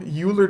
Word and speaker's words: Euler: I mean, some people will say Euler, but they're wrong. This is one of those names that is pronounced differently from person to person, but the people that are right are the people that are saying Euler. So, you know, Euler just sounds like Ferris Bueller or something.